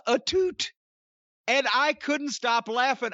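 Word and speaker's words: Atout: heard it pronounced so i thought her name was alicia a tout a-t-o-u-t that's what i thought too she introduced herself as alicia etute and i couldn't stop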